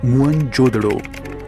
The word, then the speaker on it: मोहनजोदड़ो: में घूमा करते थे मोहनजोदड़ो शब्द का सही उच्चारण है मुन जोदड़ो और सिंधी भाषा में